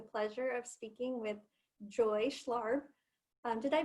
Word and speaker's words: Schlarb: Today, I have the pleasure of speaking with Joy Schlarb. Did I pronounce that right, Joy?